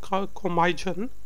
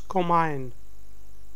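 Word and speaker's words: komijn: Yeah, it's not comijan, it's comine.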